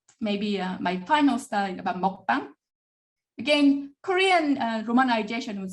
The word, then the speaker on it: mukbang: global users realize, well, what I hear is mukbang, not mukbang. So they registered mukbang, and they pronounce the word mukbang rather than mukbang, and use it in a